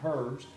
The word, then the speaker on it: herbs: and the fact that one is the proper pronunciation, herbs, and second, she taught